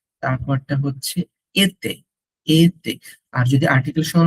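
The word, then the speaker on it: été: তারপরটা হচ্ছে এতে, এতে।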